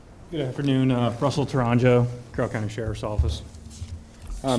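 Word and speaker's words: Tourangeau: record your last name absolutely uh t-o-u-r-a-n-g-e-a-u H pronounce it again for us Toronto it's easier and it looks okay Sergeant Toronto can you state your your occupation for the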